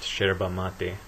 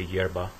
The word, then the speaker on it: yerba mate: in different countries but Argentina generally pronounced sherba mate even though it's uh spelled with a y so other Spanish speakers might say yerba moving on from the